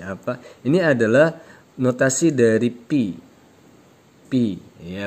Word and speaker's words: pi: Jadi notasinya seperti n ya, seperti n bacanya pi, ketentuannya ini ya, gitu ya.